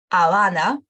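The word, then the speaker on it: Habana: so the letter ace it doesn't really have any sound it you don't pronounce at all we don't pronounce it for example for example it's the city avana city as well weska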